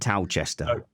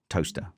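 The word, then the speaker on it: Towcester: know north of England towchester toaster toaster toaster it's spelled tester to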